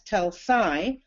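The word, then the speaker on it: Telšiai: from Lithuania and in particular the area around tuls tuls was a major city in Lithuania it was sometimes pronounced teli TLS Shi but is now referred to as telai t e l SI i a i which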